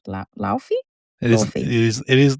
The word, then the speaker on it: Laufey: Lawfy. It is Lawfy.